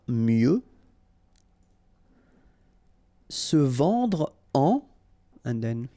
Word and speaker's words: mieux: Valoir mieux, final X not pronounced, valoir mieux.